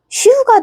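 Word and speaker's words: しゅ: 그러면 얘는 시. 얘는 유. 시유, 시유, 시유, 시유, 시유, 시유, 시유, 시유. 슈가 되죠. 어때요?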